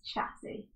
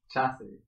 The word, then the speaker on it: chassis: Check out his chassis. Chassis? The classy chassis. You mean chassis, right? That's what I said. You said chassis. It's CH. Yeah. But you pronounce it sha. Like le sha. Or la sha.